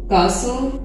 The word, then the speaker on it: castle: कासो, CASTLE, कासल, महल को कहते हैं, टी इसमें साइलेंट।